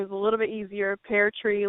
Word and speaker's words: Peartree: Pear tree. Like a tree that grows pears.